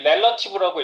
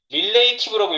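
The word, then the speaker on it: relative: 그런데 상대 포지션인이 렐러티브라고 있고요. 이거 렐라티브 릴레이티브라고 읽으시면 안 돼요. 예. 렐러티브.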